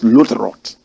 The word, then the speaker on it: Lutherot: They say the pronunciation is Lutherot.